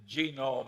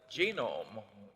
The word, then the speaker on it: genome: mentioned that one but genome I have a hell of a time putting the accident on the first syllable but that is a